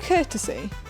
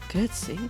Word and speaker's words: curtsy: How do you courtesy? Curtsy.